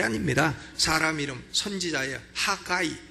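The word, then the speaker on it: Haggai: 하가이, 영어로는 하가이라고 발음하는.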